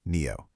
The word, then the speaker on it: NIO: That's NIO, pronounced NEO.